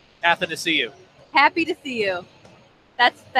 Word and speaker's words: Athanasiou: Athanasiou.